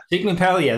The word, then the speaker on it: Sciglimpaglia: How do you pronounce it? I'm used to it. Sciglimpaglia. Sciglimpaglia.